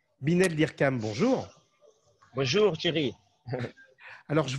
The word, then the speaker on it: Hyrcan: Et moi, j'aimerais bien… Dirkam, avec un N à la fin, Dirkam. Binel Dirkam. C'est ce que j'avais dit, mais moi, je l'avais prononcé à la française.